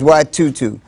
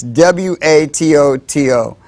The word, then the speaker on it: Watoto: That was a video by a children's choir, and it's spelled W-A-T-O-T-O. My co-host thought it was pronounced Watoto, but I think they said it was Watutu. So I'm going to say Watutu because I think that's what they said, but it's W-A-T-O-T-O.